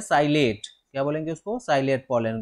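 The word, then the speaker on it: psilate: हो, उसको बोलते हैं साइलेट। क्या बोलेंगे उसको, साइलेट पॉलन ग्रेन। ठीक, साइलेट, पी साइलेंट रहेगा, पी साइलेट।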